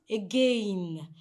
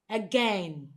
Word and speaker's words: again: Now, the correct pronunciation of this word is again. So the sound occurs here by the end of the word. The sound occurs at the end of the word. So it is not again, but again.